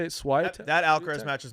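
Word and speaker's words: Świątek: Swiatek? that Alcaraz match is not till Friday. Yeah, I know. Okay. I'm just saying that girls are tomorrow. Schweitek.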